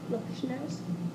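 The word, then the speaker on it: Loshnowsky: o s h n o wsk k y lowski yep um regarding her annual light up the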